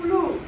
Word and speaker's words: clue: CLUE क्लू, समझ आ रहा है। ये साइलेंट रहता है, लास्ट में ये आता है तो साइलेंट रहता है, याद रखना।